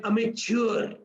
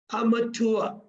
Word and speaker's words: amateur: one who lacks experience often we pronounce it like a mature not a mature amateur amateur right but inexperienced competent